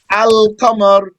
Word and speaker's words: Al-Qamar: to describe the other, because the lamb of the word Al-Qamar is pronounced clearly with the qaf, and the lamb of Ash-Shams Shams. is merged into the sheen.